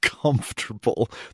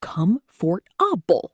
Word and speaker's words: comfortable: Because looking at the spelling, it should be comfortable. 4 syllables. Logical. Reasonable. But no, we say comfortable. 3 syllables. We just eat the middle of the word. We chew it up and swallow it.